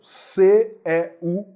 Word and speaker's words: céu: o seu e céu céu a pronúncia é aberta Sé céu pronúncia aberta